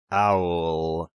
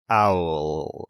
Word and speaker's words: Auel: from 1980 by gene owl i had to look up how to pronounce this name it's owl right like owl that's how i say it okay uh normally we